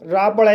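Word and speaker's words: rope: और टोन मीस शर आर को रा पढ़ा जाएगा ओ को ओ पढ़ा जाएगा पी को पा पढ़ा जाएगा और ई साइलेंट रहेगा इस तरह से इसे रोप पढ़ा जाएगा और रोप मींस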